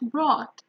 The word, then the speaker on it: brought: we have called thought brought and in this case in court for example the gh is silent you don't pronounce the gh in any of these words and you actually have